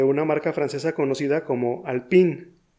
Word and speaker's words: Alpine: marca francesa conocida como Alpine. Ese nombre se parece al término en inglés Alpine. Sin embargo, como el origen de esa marca es francés, debes tratar de acercarte a la pronunciación original.